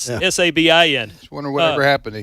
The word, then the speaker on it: Sabin: I don't know if it's not spelled like Nick Saban, folks. It's Sabin.